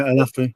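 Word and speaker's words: Olaofe: It's Tanto Alafi. I don't know if that's right. Yes, that's right. Yeah, Alafi.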